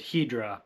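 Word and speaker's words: Hedorah: In the English dub, they pronounce it Hedra, but I've always said Hedera, so that's what we're going with.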